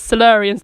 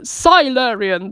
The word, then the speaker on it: Silurian: fact that Julie Whitaker says salarians the same way I say salarians which is really awfully wrong compared to the Sylar Ian that Jon Pertwee pronounces it out way back in the 1970s but I thought that